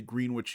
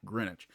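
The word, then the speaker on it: Greenwich: of Philadelphia at the green witch yard area and that is how they pronounce their green witch not greinwich um that is going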